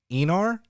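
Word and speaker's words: Aenar: so absolutely cool um i was pronouncing the uh the type of uh of andorian he is wrong i think um i believe i called him an anar but i think it's called pronounced enor with it's it's like an e instead of the a so uh enr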